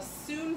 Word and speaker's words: soon: So we're going to do a form called the soon form. It's spelled like sun, but pronounced soon.